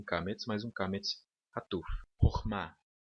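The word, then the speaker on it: חכמה: Então, nesse caso aqui, nós temos duas sílabas. Hor-ma significa sabedoria.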